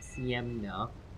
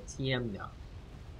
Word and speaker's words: Ciemna: pronouncing their name wrong it's not cm now it's got a t sound to it so tm now right i think that's